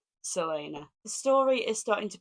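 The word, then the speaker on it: Celaena: pages left of Throne of FL I love Selena as a character I have realized that I've been saying her name wrong the whole time I think I've been saying Kena and after a bit of research online I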